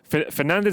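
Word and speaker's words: Fernandes: the duarte canal says fernandez is pronounced because that's why we pronounce the s at the end of the words in portuguese just like the word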